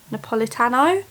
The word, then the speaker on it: Napolitano: to raid is dear Edward by Anne Napolitano Napolitano that's how you say it look at this